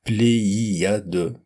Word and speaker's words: pléiade: Par exemple, le mot séisme, manichéisme ou pléiade, pléiade avec notamment trois voyelles consécutives que l'on entend l'une après l'autre, pléiade, pléiade.